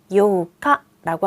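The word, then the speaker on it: 八日: 8일은요. 하치니치라고 하지를 않아요. 1일부터 10일까지만 특이한 표현이 있었죠. 8일은 요카라고 합니다.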